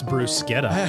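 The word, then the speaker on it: bruschetta: Joe, what's Bruce Sketa? That's what I was wondering. You know what it is? Oh, I'll tell you exactly what it is. It's the right way to say the word.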